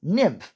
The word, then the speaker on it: Nym: as she would say her name is nym almost like an imp pretty cool asuku would